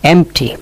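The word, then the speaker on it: empty: তাই আমরা বলি সালেন্ট ওয়ার্ড হাফ মানে অর্ধ এমটি এই এমটিতে পি এর উচ্চারণ হয় না।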